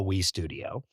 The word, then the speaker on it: W3 Studio: together into this new nonprofit that we call wi Studio it's written out as W3 but we pronounce it wi studio and you know the